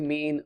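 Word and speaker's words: מִי: or who did it, it's the word me. Who? Me? It's a very helpful way of remembering that. Who, me, is how that's pronounced.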